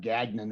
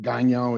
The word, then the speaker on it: Gagnon: Yes, I'm obviously French descent with the name like Gagnon, as we pronounce it in the US now, but Gagnon is the correct French pronunciation.